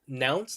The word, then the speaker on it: Nounce: It's called Nounce, like pronounce without the pro.